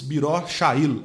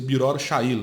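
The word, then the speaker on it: Beror Hayil: Kibbutz Biror Sha'il, acho que é assim que pronuncia. Eu não estudo hebraico, sou árabe. Estudo árabe, né? Acho que pronuncia Biror Sha'il, B-R-O-R-C-H-A-I-L.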